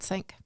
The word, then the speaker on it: cinq: So I'm also going to give it a sank. Nice. Is that how you say it? Yeah. Sank. Kitchen sink. Sank.